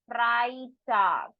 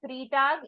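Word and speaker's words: Freitag: Friday is called as FR tag it is not three tag e i combination will always be the I sound so it will be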